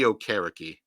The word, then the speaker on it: Okereke: Giants linebacker Bobby Okereke. I think that's how it's pronounced.